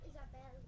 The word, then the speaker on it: Isabel: My name is pronounced Isabel. Isabel. No, Isabel.